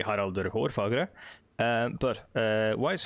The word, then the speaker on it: Harald: or fair hair sorry i pronounced the english name in the norwegian or norse norwegian uh way but uh no it would be harald but why is harold fairhair's existence sort of